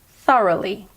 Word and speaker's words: thoroughly: results thoroughly I'll say it slowly Farah Lee thoroughly the American pronunciation is thoroughly thoroughly word number ten is congratulations if you